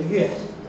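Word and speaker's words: 曰: But when I was reading it, I pronounced it yue. Why is that? Why isn't it 不易说乎? Nobody has an issue with this. Well, it's a variant reading. It's a different word. It's not shuo, it's not shui.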